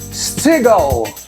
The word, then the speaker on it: Steagall: Eu quero apresentar para vocês Stigal com D. Caramba, acertou a pronúncia do meu nome completa, nome sobrenome.